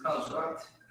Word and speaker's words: Shabbat: So this is one word, Sha, and then the Ba and the Ta are connected. So it's Shabbat. Right? Read the definition for me. Shabbat. Shabbat.